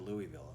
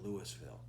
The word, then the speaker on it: Louisville: Louisville, I'm sorry, I said Louisville. They pronounce it Louisville.